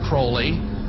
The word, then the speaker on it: Aleister Crowley: He likes to have his name pronounced Crowley to rhyme with holy.